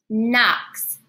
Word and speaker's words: knocks: Next, we have the N sound spelled K-N. Knocks.